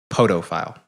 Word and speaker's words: podophile: It's actually podophile. P-O-D-O.